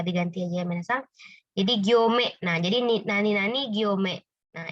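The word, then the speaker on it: 行: Nah, ini bacanya gyo ya minasang. Hati-hati dia bacanya ada dua nih, ada ryoko. Nah, ko ya. Kemudian dia di sini kalau untuk garis bacanya gyo minasang ya. Gyo panjang ya.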